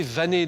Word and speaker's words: vanel: Prononcé Vané depuis la fin du même siècle. Il est utilisé à être fék ou DIEP pour le peigne perculé.